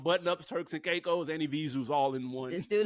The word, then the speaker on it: Evisu: Those are Evisus. Oh, okay. Spell it. EVISU. Sounds like a Zuzu.